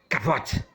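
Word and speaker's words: כבוד: A palavra bíblica para a glória de Deus é kabnod, do hebraico, se pronuncia kavod ou doxa.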